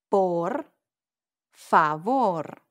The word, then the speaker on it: por favor: Por favor. Please. Lots of R's, I know. A little trick with the R's is to exaggerate the sound before it. Por favor. Yo quiero ese plato, por favor.